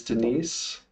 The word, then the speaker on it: Denise: Next up is Denise. Yeah, are you able to talk? Is that, are we pronouncing it right, the name? It's Denise, yes.